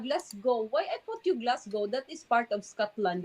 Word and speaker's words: Glasgow: Why I put you Glasgow? That is part of Scotland, the Glasgow. Glaso. No. Glasgow. Ah, you pronounce it Glaso.